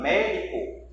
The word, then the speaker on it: médico: Vou separar médico. Eu tenho aqui, ó, a antepenúltima sílaba que eu vou contando do final para o começo. 1, 2, 3. Essa terceira sílaba, ela é a mais forte. Recebeu o acento.